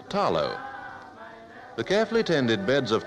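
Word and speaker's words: talo: the Samoan diet is the Tarot pronounced here with the L as tallow the carefully tended beds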